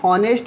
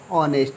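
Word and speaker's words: honest: Karim is ऑनेस्ट बॉय, इसको हम हॉनेस्ट पढ़ते हैं, ऑनेस्ट, जो गलत है, इसमें एच साइलेंट रहता है और इसे ऑनेस्ट पढ़ा जाता है, तो ये प्रोनंसिएशन हुआ ओ से स्टार्ट।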